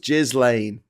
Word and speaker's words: Ghislaine: It's pronounced Ghislaine.